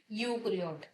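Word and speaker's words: eukaryote: क्या बोलते हैं, यूक्रियोट। ये ई साइलेंट होती है।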